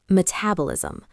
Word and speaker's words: metabolism: Word four. Metabolism. Metabolism. Stress on the second syllable.